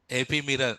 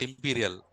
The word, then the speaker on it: ephemeral: Ephemeral, not imperial. Imperial blue. So, ephemeral storage. What is that? Ephemeral storage. So if you remember that also, no problem. But concept should be there, right? Ephemeral storage.